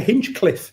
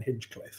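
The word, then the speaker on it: Hinchliffe: getting his name wrong I know some people still think he's called Ben Hing cliff in the Hing Cliff just in case you're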